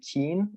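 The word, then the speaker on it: Keane: think it's a band it's like pronounced like keen or something like that it's like k-e-a-n-e i quit school so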